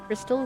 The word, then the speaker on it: Christelle: the its depths at Christelle is pronounced crystal crystal crystal I